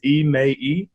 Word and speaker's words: Emmai: out in the interwebs my first name is pronounced ma it's three syllables emaii and lastname is a